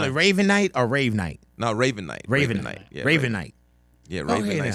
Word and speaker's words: Ravenite: No, Ravenite.